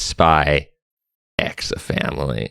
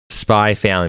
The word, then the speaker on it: Spy x Family: story I like that it's spy ex a family so it's a spy with a family spy family makes it sound like everybody in the family is a spy that's that's like my biggest criticism of calling it spy family yeah exactly exactly it